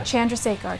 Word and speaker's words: Chandrasekhar: the Young Hollywood studio with the Babymakers, Jay Chandrasekhar and Kevin Heffernan. How's it going, guys? Hi, Nikki. How'd I do with your name? You did really well. You nailed it. Yeah. Chandrasekhar.